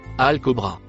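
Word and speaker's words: الكبرى: Le mot en vert se prononce Al-Kobra.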